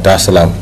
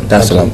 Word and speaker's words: Dar es Salaam: of the 7th, to come straight to Tanzania, Dar es Salaam. Did I pronounce that right? Yeah. Dar es Salaam.